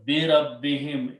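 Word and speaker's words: بِرَبِّهِمْ: Now Qari will pronounce this him because it's easy on the tongue. So again, bi rabbihim, in their, with their Lord.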